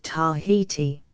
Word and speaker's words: Tahiti: Island until he reached Tahiti Wallace's account of a it on the authority of the London missionary Society to be pronounced so as to rhyme with the adjective Mighty and its people occupies